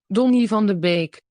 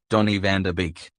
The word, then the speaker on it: Donny van de Beek: is the dutch pronunciation don't live on the bake tony van der beek that's the dutch pronunciation he's the english pronunciation donnie van der beek see we say beak but the dutch pronunciation listen don't live on